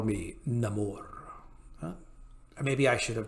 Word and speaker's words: Namor: new more Latin pronunciation rather than being pronounced nemour like the original Comics that would be Namor it will be pronounced Namor in order to bring the character more fully in line with his new Aztec Mayan Origins I have many names